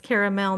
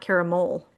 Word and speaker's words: caramel: It's caramel, not caramel.